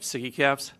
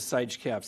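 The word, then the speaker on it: SIGECAPS: That's how you pronounce it, right? Siggy caps? Yes. Because I pronounced it Sige caps the other day, and that was wrong.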